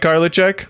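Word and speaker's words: Karlitschek: like you both very much but I can't pronounce things so I'm about to butcher your name's Frank garlic check Carla check Frank Carla check did I get that right Frank yeah that's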